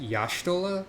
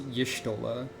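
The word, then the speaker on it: Y'shtola: the way this is justola um technically this is supposed to be pronounced yashtola but nobody ever does that at least past Realm Reborn everyone just says yishtola so uh vote now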